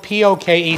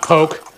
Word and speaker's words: poke: or so of this oil into the poke it's spelled p-o-k-e so many people pronounce it poke it's not poke it's poke and we're just going to stir